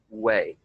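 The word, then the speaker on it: weigh: In this case, it's a silent GH sound, way.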